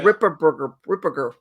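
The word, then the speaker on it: Ripperger: Ripperberger. That's how you pronounce his name.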